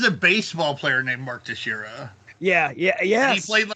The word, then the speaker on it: Teixeira: Right, because because motherfucking I used to be Mark Texeria, or some bullshit like that. But Mark Teixeira.